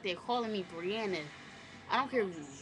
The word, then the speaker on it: Briana: n a Bri Anor Anna by itself is with one n but Bri Anna together Brian that's my name